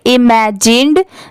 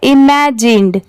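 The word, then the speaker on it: imagined: और आई एम ए जी आई एन ई डी। इसे क्या पढ़ेंगे? इमेजिंड।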